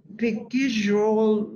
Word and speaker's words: Bekiroglu: Is Selen Bekiroglu? It's a little bit long, that's why it's hard to pronounce it. Bekiroglu. Bekiroglu. Ah, I see. Bekiroglu.